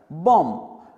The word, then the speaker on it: bomb: बॉम्ब। इसमें हम B का प्रोनाउंसिएशन, उसका उच्चारण नहीं करते।